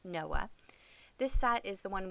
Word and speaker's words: NOAA: It's actually the National Oceanic and Atmospheric Association, pronounced Noah.